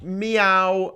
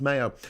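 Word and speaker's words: Maio: read uh Portuguese B Vista Fogo s Nicolo meow um oh sorry Mayo it's pronounced Mayo uh sa Vincent or vete uh s like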